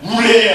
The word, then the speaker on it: 우레: 네, 우레의 아들, 우레의 아들. 후레가 아닙니다. 발음은 후레가 아니에요. 우리 옛날 어르신들 욕 이렇게 막 사실 이런 게 아니고요. 우레, 천둥번개예요.